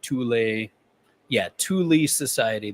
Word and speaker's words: Thule Society: Because that pottery was from the early 1900s, before the Thule Society, Thule Society, that's how you say it, before the National Socialist.